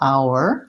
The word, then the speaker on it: hour: in the ow syllable our it's really a one-syllable word but we can kind of thinking about it as being two syllables ow or when you